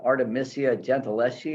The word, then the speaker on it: Artemisia Gentileschi: Well, in the meantime, can I tell people there's a wonderful article in the New York Times about Artemisia Gentileschi.